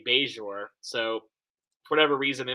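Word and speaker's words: Bajor: I love the way he says Bajour when welcome to Bajour. I was like, "Ah, no, that's quite not quite right." But then later on with at the end of the episode, he does say beure.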